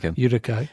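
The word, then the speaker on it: Utica: kind of near like how do you say Utika a how do you pronounce Udica yeah I I was going to guess that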